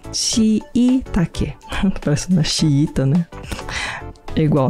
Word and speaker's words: shiitake: Mas no Japão se diz shiitake, porque se escreve com dois i's. Shiitake.